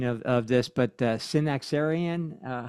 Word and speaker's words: Synaxarion: Now, um in your book, you uh I'm going to butcher the the pronunciation of of this, but the Synaxarion, uh how do you pronounce that?